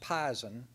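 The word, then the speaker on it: pizen: knows what p-i-e-n means is pronounced pison and the best example is that your grandmother told you when you were little don't drink the red devil lie cause it's poison if you came to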